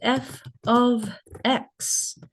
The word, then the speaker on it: f(x): Number one, we've got function notation and this is pronounced f ofx.